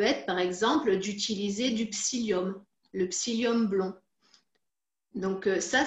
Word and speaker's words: psyllium: Après, ce qui est, je dirais, plus simple à faire, ça peut être, par exemple, d'utiliser du psyllium, le psyllium blond.